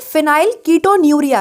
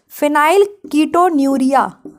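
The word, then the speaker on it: फिनाइलकीटोन्यूरिया: NURIA, सही लिखी है, फिनाइल कीटोन्यूरिया। आप इसको फिनाइल कीटोन यूरिया नहीं पढ़ेंगे, कीटोन यूरिया मत पढ़ लेना, ठीक है।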